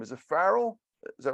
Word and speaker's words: Farrell: last name is it Farrell is that right yeah Farrell like uh Farrell's Ice Cream right Carl's okay all right thank you so much so we're here with Farrell uh co-founder of humanities